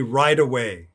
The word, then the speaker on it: right away: d or sound so you could say for example right away would be right away and i know that sounds like ride away like ride your car away ride your truck away but in this case right away right away so that's another case where we flap our t's right away the next